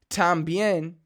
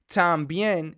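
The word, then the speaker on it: también: tambien it's time being just by moving your tongue a little further up and saying that a sound da da instead of talk it'll make you sound more like a native so thumb being we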